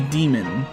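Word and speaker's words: Daemon: It's spelled Damon, but they say demon.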